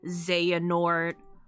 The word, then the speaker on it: Xehanort: I'm putting the X here, but so many of the names pronounce it like Z, like Xehanort, Larxene.